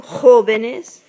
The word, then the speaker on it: jóvenes: Jóvenes. Now, joven has no accent on the O, but when you attach this ES at the end, it does have an accent on the first part, the first O.